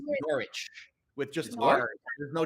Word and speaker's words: Norwich: i want to say norwich but i know it's norwich with just art there's no w nor norwich well it's spelled n-o-r-w you don't pronounce the w there's all kinds of